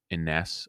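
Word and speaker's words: Inness: at this place called iness I believe uh that's how you pronounce it i n nees um and that was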